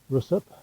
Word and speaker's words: Ruswarp: know that i am it's spelt you'll see our us w-a-r-p so it's felt sort of rust warp but everybody calls it